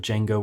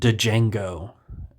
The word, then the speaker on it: Django: We even had a scene earlier in the movie where he says that the D is silent and this one random